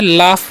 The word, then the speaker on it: laugh: तो आगे क्या लिखा हुआ है LAUGH, तो इसे यहाँ पर GH का उच्चारण क्या होता है फ होता है। इसे हम क्या पढ़ते हैं लाफ पढ़ते हैं, क्या पढ़ते हैं लाफ।